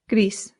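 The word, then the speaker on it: gris: This sounds just like the English word grease, like the grease from a pan or like oil. Grease. But in Spanish, you have to slightly round that R.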